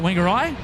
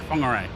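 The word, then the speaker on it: Whangārei: It doesn't have a T at the front. It's got a W. Yeah. How do you say it? Funer. Funer. Like like a like like like fun.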